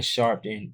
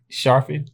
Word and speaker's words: Sharpe: think Shannon Sharpton is Why you calling him Sharpton, bro? That's his name. Last name, right? Wait, say his name. Sharpen. No, say his whole name. It says on there. Shannon Sharpet. Sharpet the free. Look, I don't know how to pronounce his last name prop. Shannon Sharpet game. That's it. No, it's Shannon Sharp.